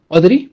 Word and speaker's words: Audrey: No sé si es Audreu o Audriu. Me confundo ahí, pero tú dime. ¿Audrey? Ah, ok. Ok, va.